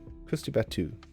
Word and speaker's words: Krusty Batu: I love that we have like a full representation in you pronounce Krusty Batu. Krusty Batu. Krusty Batu. Okay.